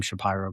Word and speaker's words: Shapiro: I thank you for pronouncing my name, Shapyro, correctly.